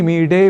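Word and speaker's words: ईळे: हम करते हैं यानी अग्नि सूक्त यदि हम पढ़ रहे हो तो हमें अग्नि मीडे पुरोहितम को अग्नि मीड़े पुरोहितम यानी ड़ इस रूप में ही उच्चारण करना चाहिए और यही वैदिक संस्कृत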